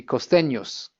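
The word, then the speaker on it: costeños: costenos with an S but they wouldn't pronounce that s so if you if you're a very good student and you know how the word is spelled you think where's the s that guy's not pronouncing it and he's not going to pronounce it so that's just one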